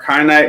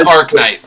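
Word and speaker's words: Arcanite: can make uh our kyanite magician i'm not sure if i'm saying that right i know patrick that drives you crazy so please correct me if i said it wrong it's arc night okay there we go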